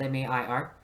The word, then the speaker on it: Mair: There's a lot of serrations, but in 1540s, when we look at Mair's, and that's spelled M-A-I-R, not M-E-Y-E-R, that's a different Mair.